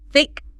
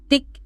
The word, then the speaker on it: thick: Gently, just gently place the very tip of your tongue between your front teeth, upper and lower. Okay, got it. Now, just try to slowly push air out around your tongue as you start the word like. Feel that a little bit of air, that friction. Yeah, that's it. That's the sound.